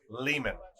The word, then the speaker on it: Leman: Leman? Yeah. Rhymes with demon.